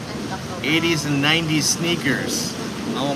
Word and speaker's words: Tacloban: No, that's wrong spelling, but it's Tacloban.